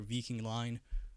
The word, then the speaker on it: Viking Line: when I was younger vking line or Viking line um is that a new n meme vking um sorry I meant Viking uh that that is the pronunciation in Swedish by the way but